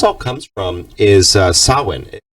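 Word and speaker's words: Samhain: and it it's proun it's written sorry Sam Wayne but it's sawin it's the pronunciation is often considered one of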